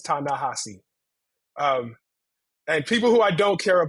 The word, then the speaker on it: Ta-Nehisi: Edward s's nephews um I'm gonna correct you and say the corre correct pronunciation is tanassi um and people who